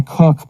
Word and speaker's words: Kook: It was Rabbi Cook, but it's spelled Kook.